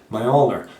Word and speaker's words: Mjölnir: handled hammer mjölnir and this is how you pronounce the name my older not like they've done in the Thor movies